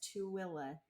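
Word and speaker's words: Tooele: just west of Salt Lake and it's it's pronounced tuilla to like to TOA yeah um I guess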